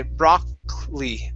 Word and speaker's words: broccoli: Okay, so this O is going to be an A sound, and we really jump over that last O. We say broccoli, broccoli.